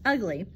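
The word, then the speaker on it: ugli: In Jamaica, the grapefruit was crossbred with a tangerine to produce the ugly, pronounced ugly, fruit which is a bit sweeter than the grapefruit.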